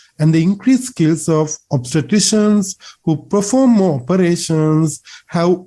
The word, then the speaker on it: obstetrician: to that one late then obstetrician is the correct pronunciation not obstetrician you have to be careful so you know who